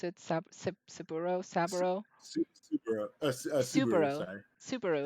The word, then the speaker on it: Subaru: Subaru. Subaru. Subaru. Sorry. Subaru. It's like no. It's like the Uh-huh. car. It's actually like the car Subaru.